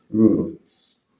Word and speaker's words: route: In British English is pronounced roots.